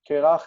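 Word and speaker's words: קרח: So the adjective for bald, a bald person in the Bible, is kireach. Kerach is bald. It's also a word that we use today. It's kerach is how you say someone's bald.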